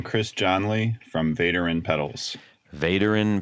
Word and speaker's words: Vaderin: Vaderin Pedals, that's correct. You got that right.